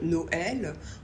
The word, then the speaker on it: Noël: le prononcer différemment par exemple Noël on prononce donc bien le O et le E mais normalement au e on a plutôt tendance à le prononcer e comme le mot cœur par exemple ou bœf donc là ce tréma il est là pour qu'on continue de prononcer le E comme un E exemple avec les lettres